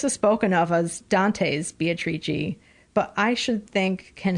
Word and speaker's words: Beatrice: that is called Beatrice, or in Italian, Beatrice is how it's pronounced. Or if you're from Nebraska, Beatrice. There's a town in Nebraska called Beatrice.